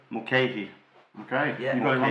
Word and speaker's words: Mulcahy: whose name none of us know how to pronounce. But we think it's Marc Mulcahy. Mulcahy.